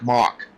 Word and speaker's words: Mock: And running out the field, Mike Mash in 31st. Good field tonight. Mike Mock. Mock, thank you. Yep, yeah, that's the way it's pronounced.